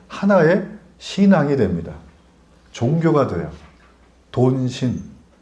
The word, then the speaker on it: 돈신: 신앙이 됩니다 종교가 돼요 돈신 돈신 발음을 유의하셔야 돼요 돈신 뭘 았는지 모르지 돈신